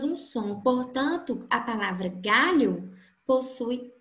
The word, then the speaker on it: galho: A palavra galho possui 5 letras, G, A, L, H, O. E possui apenas 4 fonemas, porque essas 2 letras juntas, L e H, elas formam apenas um som.